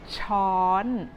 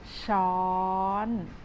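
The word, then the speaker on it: ช้อน: spoon in Thai a spoon is called a Chon it is very very easy for you to start pronouncing this word with shawl and gradually Rising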